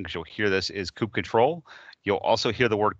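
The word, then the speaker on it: kubectl: it's the coupe ctrl control uh the official pronunciation because you'll hear this is coop control you'll also hear the word coupe cuddle and really the difference is the people who like coop cuddle critic unicorn stickers with that said coop cuddle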